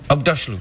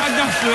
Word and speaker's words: Aghdashloo: You're familiar with Ugg boots. Ugg boots, yes. Say Aghdashloo. Aghdashloo. That's it. Shohreh Aghdashloo, everybody.